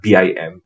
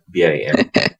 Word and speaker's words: BIM: but some people mention beam as well and i find that the more common pronunciation now is beam even though i spent four years of my phd pronouncing it as bim and now i have